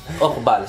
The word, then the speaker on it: Orval: No sé cómo se pronuncia, Urbal o como... yo creo que aquí da un poco lo mismo. Orval se dice.